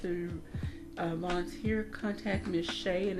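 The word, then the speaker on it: Shya: So if anyone would like to volunteer, contact Miss Shay, and it's spelled S-H-Y-A. Please don't call her Shia.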